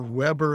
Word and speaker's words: Weber: So Max Vber or Weber if you want to pronounce it the u he